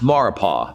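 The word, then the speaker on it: Maurepas: mexico rapists it's pronounced maripo the s is silent and it's a body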